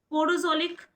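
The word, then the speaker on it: podzolic: पोजोलिक करके पोजोलिक कहेंगे I mean उसको प्रोनाउंस करेंगे।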